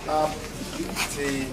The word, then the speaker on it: optimism: Usually all English words are four syllables that end in ISM have their primary stress on the first syllable.